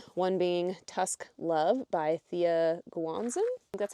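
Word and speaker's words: Thea Guanzon: one being Tusk Love by Thea Guanzan. That's how you pronounce that.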